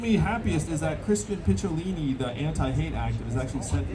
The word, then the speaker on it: Picciolini: He also commended me for pronouncing his name right. Because Picciolini, it's not easy.